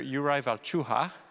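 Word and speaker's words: Jakub Hrůša: to talk about tonight's program led by conductor Uriah chu ha if you wonder how to pronounce that that is how you pronounce it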